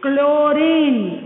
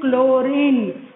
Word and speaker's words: chlorine: Here H is silent. So pronunciation chlorine, So after C what you are getting?